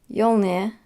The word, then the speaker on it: Jolner: Jolner, I I pronounce the J.